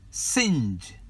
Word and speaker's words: singe: Singe.